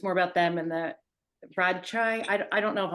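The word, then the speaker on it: Radchaai: any of this correctly so my official my when people ask me I say Rajai however Raj space is large there are lots of different languages and accents and dialects so however you say it is right somewhere that's my official answer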